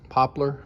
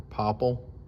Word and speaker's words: poplar: I had some Poplar Poplar or Popple depending on how you want to pronounce it I sandwiched those together